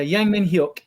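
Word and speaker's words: Heung-min: Yeah, Heung Min.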